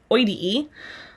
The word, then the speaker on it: oideae: Notice they all have that exact same ending though, that O-I-D-E-A-E, pronounced oidee.